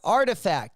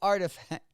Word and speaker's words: RTFKT: I can't even uh the rtfkt um those of you guys that that can pronounce it let me know in the chat right artifact that's it there artifact oh man we are